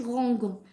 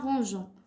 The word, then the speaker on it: rangeons: Alors ranger غادي نديرو range وغادي نديرو حداها e باش ما نقولوش rangon باش تجينا rangeons وغنديرو à la fin ons غنديرو لها e ons باش ما نطقوهاش rangon. Rangeons.